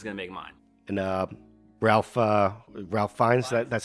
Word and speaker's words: Ralph Fiennes: And Ralph Fiennes, that's how you say it.